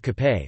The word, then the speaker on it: kapé: Filipinos have a number of options to take with cape, which is the Filipino pronunciation of cafe, coffee, breads and pastries